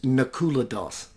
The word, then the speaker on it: Nakula Das: let's get to that source I'm glad you pronounced your name again my apologies Nakula Dawson is that right that's right you did tell